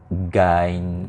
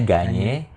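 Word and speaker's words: Gagné: si zerom bruner ada Robert gain gain ganye ya bacanya ganye terus nanti ada social kognitivision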